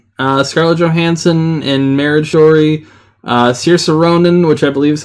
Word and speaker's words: Saoirse: Saoirse Ronan, which I believe is how you pronounce her name. Saoirse Ronan.